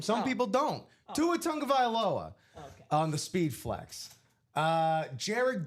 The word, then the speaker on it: Tua Tagovailoa: Tua Tagovailoa on the Speed Flex.